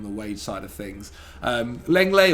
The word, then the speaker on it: Lenglet: Lenglet or Longley, depending how you say it, is also another one.